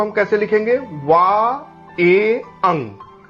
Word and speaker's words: vingt et un: 21 means वा ए अंग, वा ए अंग, वा ए अंग। इसी प्रकार 31 का फ्रेंच प्रोनाउंसिएशन के लिए हम 30 + 1 के रूप में इसको लिख लेंगे।